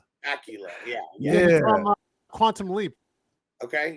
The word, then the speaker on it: Bakula: I'm not sure how to pronounce his last name. Scott Bakula. Oh no, sorry, Scott. I think Bakula. Bakula.